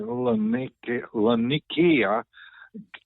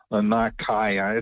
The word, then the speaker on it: Laniakea: And our galaxy system, our Laniakea galaxy, I probably pronounced that wrong, Laniakea, it's a Hawaiian word.